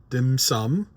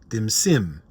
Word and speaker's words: dim sim: iced coffee, and some dim sum. No, I'm not mispronouncing that, my international friends. It's not dim sum. It's not dim sum. Dim sim.